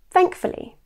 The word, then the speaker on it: thankfully: Either way, it should be pronounced as thankfully.